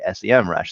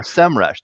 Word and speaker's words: Semrush: have been hosted by sem rash so or semrush depending on how you pronounce it it seems like it's a um a uh north america versus europe sort of uh differentiator there um